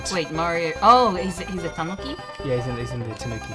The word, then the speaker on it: tanuki: Oh, he's a tanuki? Yeah, he's in the tanuki suit. How do you pronounce it?